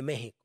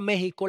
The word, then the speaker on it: México: escrito el texto Pero si tú pronuncias la palabra México la x no suena entonces México debe escribirse